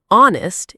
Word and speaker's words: honest: Another example is the H in honest is silent.